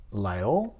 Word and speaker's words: Laguiole: Um, as I understand it, you pronounce this Laguiole.